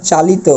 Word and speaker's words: চালিত: ওকে, তাহলে ইত প্রত্যয় থাকলে এটা চালিত বলতে পারবো না, এই শেষে যে তর ক্ষেত্রে অটা, সেটা ও এর মতো হবে, অর্থাৎ চালিত।